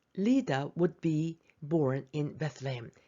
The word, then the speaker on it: Bethlehem: 베들레헴 영어 발음이 Bethlehem.